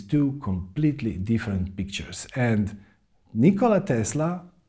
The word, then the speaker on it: Nikola Tesla: inventors that world ever had his name was Nikola Tesla and yes that's how his name is properly pronounced or at least that's how he would